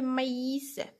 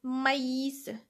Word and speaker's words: maïs: fait être prononcé le maïs ça veut dire sert à signaler que la voyelle précédente doit être prononcée alors gardons ici j'ai prononcé le à maïs par contre si je